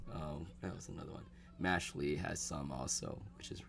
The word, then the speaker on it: Mashle: I say Mashley. I think it's Mashel. I think it's pronounced Mashel, like magic and muscle.